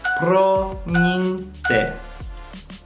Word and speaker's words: promiňte: Number 5, when it comes to like saying sorry or excuse me, you can just say promiňte, which is pronounced promiňte.